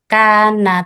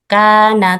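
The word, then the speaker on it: كان: Kan tawwaba kan tawwaba. Jadi kurang terbuka hurufnya. Yang benar, yang betul adalah ee pada pengucapan alif mandiyah itu mulutnya dibuka. Kana tawwwaba seperti itu.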